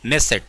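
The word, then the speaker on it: Knesset: उसको कहा करते हैं नेट सेट ठीक है ना इसमें के जो है ना वो साइलेंट है याद रखना ठीक है ना सेट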